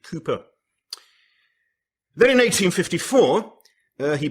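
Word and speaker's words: Cowper: newton and william cooper or to those who don't know how to pronounce the word calper but it's william cooper then in 1854 uh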